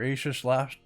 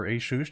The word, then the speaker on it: Asus: We got our Asus laptop, or Asus, depending how you want to pronounce it.